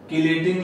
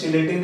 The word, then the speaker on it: chelating: होता है claw like, chelating की इसको प्रोनाउंस करते हैं कीलेट, कीलेटिंग लिगेंड है, कीलेटिंग लिगेंड। कीलेट का एक्चुअली मीनिंग क्या होता है, क्लॉ लाइक। कुछ लोग बोलते हैं चिलेटिंग ligand, चिलेटिंग word proper नहीं है, इम्प्रॉपर है।